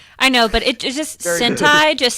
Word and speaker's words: Sentai: I know, but it just, Sentai just sounds like something very, like... That's because it rhymes with hentai.